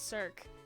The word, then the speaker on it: Cirque: Cirque. There's no accent on the E, so it's Cirque.